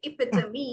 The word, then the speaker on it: epitome: ബട്ട് for this word particularly it is epitome.